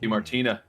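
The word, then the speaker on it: Di Martino: Because even Yes, like Sylvie's actress, I can never pronounce her last name DiMartino. correctly. DiMartino. DiMartino, that's right.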